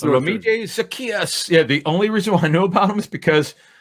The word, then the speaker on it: Zaccheaus: And try to put the speedier guy Olamide, the bigger, either Gage or I can't pronounce it. Zaccheaus, you said? We're going to go with Zaccheaus.